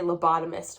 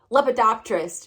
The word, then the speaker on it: lepidopterist: is a oh god i can never pronounce the name of her job i almost always look at the word and say lobotomist but that's not right lepidopterist she's a lepidopterist um